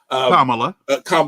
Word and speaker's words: Kamala: I pronounce her name to this day. Kamala.